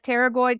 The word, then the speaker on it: pterygoid: and it's pterygoid spelled like a P, like pterodactyl.